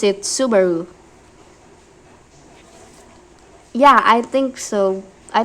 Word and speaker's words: Subaru: Well, you write it like suic the word for comet, but you pronounce it Subaru.